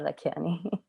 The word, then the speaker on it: Lakhiani: Correct me if I'm saying your last name wrong. Lakhiani. Yeah, Lakhiani.